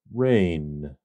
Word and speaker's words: reign: It is pronounced rain. Rain. Rain. Just like the water that falls from the sky.